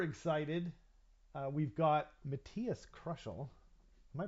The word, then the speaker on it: Krushel: uh we've got Matthias crushel am I pronouncing that right Matthias see like the normal word like you're to this to the life of this podcast but um oh am